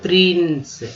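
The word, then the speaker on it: prince: और राजकुमार, राजकुमार, प्रिंस, प्रिंस, फिर सी को स पढ़ेंगे, सी को स पढ़ेंगे तो प्रिन हो गया स, प्रिंस।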